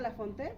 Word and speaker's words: Lafontaine: Se pronuncia Lafonte, pero si lo escribimos es Lafontaine.